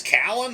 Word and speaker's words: Callan: Hey, I think you say his name is Callan, like with a K, or Talon with a T? It's Callan, Kallyn.